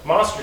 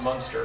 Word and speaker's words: Munster: I think it's pronounced Munster. That's monster cheese. Munster. Yeah. Like Herman Munster.